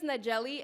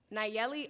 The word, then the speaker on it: Nayeli: poem is about representation hi my name is nigelli sorry hi my name is Nayeli let's try that again hi my name